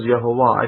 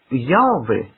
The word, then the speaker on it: Yahweh: Moses did not sit there pronouncing the name of God as Yehovah.